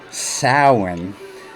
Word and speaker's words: Samhain: Gila monster in Danzig likes old movies Samhain pronounced Souren is the Gaelic french festival marking the end